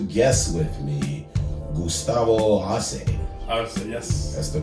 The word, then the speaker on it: Arce: Arce, yes.